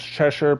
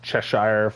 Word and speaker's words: Cheshire: was great but yes I normally pronounce it as chesher but people get ticked off if I don't say uh Cheshire or Cheshire Cat since that's apparently how that word is actually pronounced so yeah but yeah that